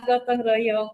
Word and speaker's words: gotong royong: Though am I correct in the Yes, pronunciation? gotong Okay, royong, yeah. yeah, gotong royong.